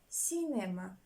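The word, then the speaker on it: cinema: французької рядом інших мов де се якщо вона стоїть перед е і вона читається як с два слова запам'ятаємо з центру центр і Сінема знаєте що таке Сінема як Сінема англійською це кіно як к с читається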